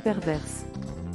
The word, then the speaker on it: pervers: dit un pervers une perverse enfin il est important de rappeler que le mot pervers prend un S au masculin mais le S ne se prononce pas abonnez-vous à notre chaîne